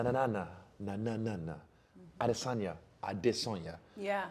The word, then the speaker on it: Adesanya: When I was So- living in China, right, they really liked the way I pronounce my Mandarin because my language is tonal.